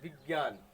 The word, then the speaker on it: विज्ञान: लेकिन जब हम मौखिक रूप से इसका उच्चारण करते हैं तो इसको इस रूप में बोलते हैं, विज्ञान।